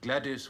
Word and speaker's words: Gwladys: It also accounts for Katherine, Isabel, and Ethel, all spelled with a Y, but Gladius with a W is a particularly virilent form.